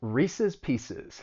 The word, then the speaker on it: Reese's Pieces: black and decker next reese's pieces it's a well-known candy and both of those words end in siz reese's pieces and it